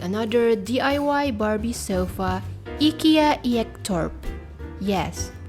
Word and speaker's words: Ektorp: Layla Layla Hello lovely crafters, today we're gonna make another DIY Barbie sofa IKEA Ektorp Yes that's how you pronounce it in Swedish, because I just google